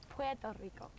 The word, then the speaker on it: Puerto Rico: And I think the correct way to say it is Puerto Rico.